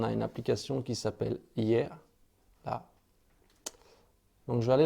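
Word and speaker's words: Yeay: Donc sur ma tablette, vous voyez ici, on a une application qui s'appelle Hier. Là. Donc je vais aller dans cette application Hier. Donc ça s'écrit Y-E-A-Y.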